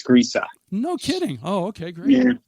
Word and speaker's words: Griese: never really asked if your last name is pronounced Grace or Greece but I I'm G to go with Greece well you're close there's an uh at the end so it's grea no kidding oh okay